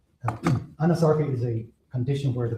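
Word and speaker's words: anasarca: No, you're pronouncing correctly. She did have a condition called anosarkca. Can you explain what that is? Anosarca is a condition where the body swells.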